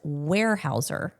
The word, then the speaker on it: Weyerhaeuser: And you pronounce the word as Weyerhaeuser, not like, I think I was pronouncing it like a Weimaraner.